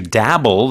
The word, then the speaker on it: dabble: Dabble, the pronunciation dabble, D-A-B-B-L-E, dabble.